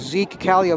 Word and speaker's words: Zeke Kallio: I think I was butchering his name earlier in the game, just trying to figure out how to pronounce it. I was able to ask him at halftime. It's Zeke Kallio.